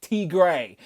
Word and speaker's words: Tigra: about an inside joke we call tiger t gray because the robot that reads out my super chats on my live stream can't pronounce tigress you pronounce it t grey so now she is